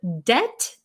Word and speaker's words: debt: different from the word debt where you owe people money d-e-b-t that word the t is silent in this word debit